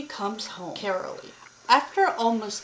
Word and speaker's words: Caralee: I figured out her name name is Carol carolly comes home carolly after almost 4 months away in carolly comes home after almost months Jess had to bring carolly home after insurance out the cou their daughter